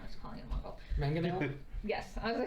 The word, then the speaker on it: Mangonel: This one, the Mongrel, though, yes.